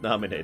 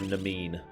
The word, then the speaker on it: Naminé: She does look a lot like Naminé, doesn't she? That's a word that took me a while to get used to the pronunciation of, by the way. I used to call her Namine.